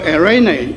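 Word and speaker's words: εἰρήνη: eirene 希腊语叫做读作 eirene，伊的意思是平安、和平、和睦。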